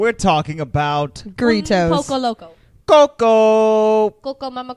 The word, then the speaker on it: grito: Grito. You said it right the first time. Grito. It's just There a you go. long R, just more R's.